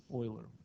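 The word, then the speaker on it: Euler: So he's one of the big guys, Oiler. What I I've known to put a question, you know, how do you pronounce this name out of respect for and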